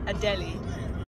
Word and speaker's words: Adele: see it fun fact Adele on Spanish radios pronounced a daily